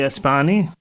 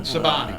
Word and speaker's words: Sabani: Billy Espani. Did I pronounce that right? No. Well, do it. Let's see. This is my night. It's Italian. Sabani.